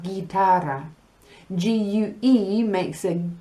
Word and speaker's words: guitarra: But G-U-I makes a G sound, and you know that because we have guitarra.